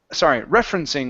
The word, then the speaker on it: referencing: This word is pronounced referencing with the stress at the very beginning.